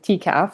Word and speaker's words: TCAF: I mean, maybe the first thing, and we should probably address this, is how to pronounce our acronym. So, we're we're TCAF. So, if you think of like TCAF, so the Toronto Comic Arts Festival, and we